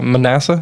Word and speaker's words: Manasseh: a father and it was all about uh Manasseh is how you say it uh the king